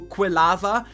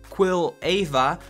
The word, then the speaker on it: Quilava: Once again, Cyndaquil, really cute Pokemon, evolving into Quilava, Quilava. I'm not sure how to pronounce that. I think Quilava is the way to go.